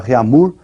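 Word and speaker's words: Réaumur: aí que é a escala reamur que nós vamos pronunciar reamur né que aqui a portugues de novo né E essa escala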